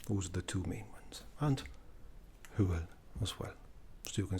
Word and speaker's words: Hwyl: Hwyl. Hwyl. And that means bye-bye. Goodbye. Hwyl. Like Howl's Booth and Castle.